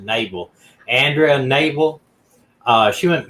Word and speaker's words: Knabel: missing and this label her last name starts with k but if they pronounce it naval andrea naval uh she